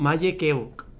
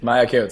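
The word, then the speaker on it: Maja Keuc: Ah, es que a ver la pronunciación. Maye Keuk es su favorita. Aquí dice. Maya Keots, sí.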